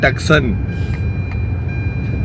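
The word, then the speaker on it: Tucson: पारो जी कहते हैं टक्सन।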